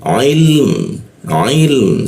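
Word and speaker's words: علم: Cara membacanya adalah keam lam dulu dimatikan baru ke mim. Jadi cara membacanya ilm ilm seperti itu. Perhatikan huruf mimnya jangan sampai ee tidak terbaca ya. Kadang ee ada orang yang membacanya il mimnya tidak dibaca dia seperti itu.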